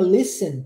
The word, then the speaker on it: listen: é que nessa palavrinha Listen que é de escutar verbo escutar a gente não pronuncia o t nunca nunca se pronuncia o t o t é mudo e eu sei que